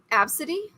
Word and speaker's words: Abcde: this ABCDE e but how do you pronounce it ABCDE e yeah absity yeah really yeah does that